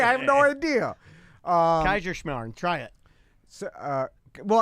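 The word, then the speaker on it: Kaiserschmarrn: Um Kaiser Shamar. Try it. So, uh well I know. Yeah. Yeah. But say Kaiser and then Shimar.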